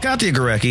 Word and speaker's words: Katya Gorecki: here with my co-host katya gorecki how's it going katya you actually pronounced my name correctly i think first time